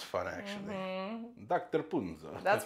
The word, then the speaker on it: Punzo: my name so so punzo is that how it's pronounced punzo yes I feel like punzo